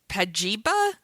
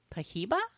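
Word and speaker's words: Pajiba: the daily dot gawker this one i never pronounce it right pagiba pahiba it's like p a j i b a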